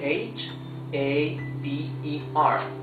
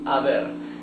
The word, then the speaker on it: haber: That's because in Spanish, letter H is totally mute. So, we don't pronounce the H. We only pronounce haber.